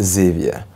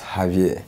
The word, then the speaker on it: Xavier: Actually, in most English jurisdiction, it's called Xavier, but in Francophone jurisdiction, it's Javier. Yes. And then, you know, some Spanish will also call it Javier. Yeah. So it depends on who is but pronouncing.